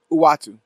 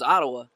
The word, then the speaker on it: Uatu: with Galactus before Yo, how do you the pronounce Watcher this shows guy's up. name? Uatu. Uatu? Yeah. Okay. Uatu. I had no idea. Oh, that's how I pronounce it. I was pronouncing it like the wrestling Samoans, Ottawa. Yeah. I was just saying Ottawa. Uatu, the Watcher, who only